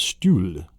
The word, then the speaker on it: Stuhl: So it sounds like the word stool.